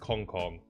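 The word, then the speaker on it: Zmjjkk: would have to go ZM jjkk pronounced Kong Kong but let's go for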